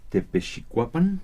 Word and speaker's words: Tepechicuapan: acompaña la maestra Tepechicuapan. Sí. Así está bien pronunciado.